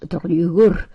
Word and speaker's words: Draugur: Dost thou know that Draugur, pronounced Draugur, is neither living nor dead, is dead but eats and drinks, talks and laughs, like if he were a living man?